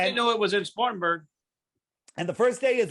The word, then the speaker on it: Spartanburg: where are you at Spartansburg Spartansburg South Carolina what well you go first thing you gotta do is learn how to say it Spartanburg whatever you Southerners go